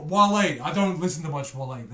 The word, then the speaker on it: Wale: sorry, did I just say Whale? Wale.